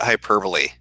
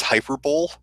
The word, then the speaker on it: hyperbole: No, you see, you're pronouncing it the wrong way. It's not hyperbole. Okay, you need to take a fucking course in English. All right, it's hyperbole.